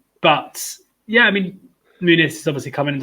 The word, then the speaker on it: Muniz: He's Brazilian though, isn't he? So it's Muniz. So it's the Muniz.